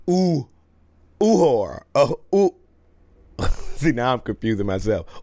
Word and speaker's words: Uhura: I've been pronouncing O'Hara's name wrong. I've been saying O'Hara. It's Uhura.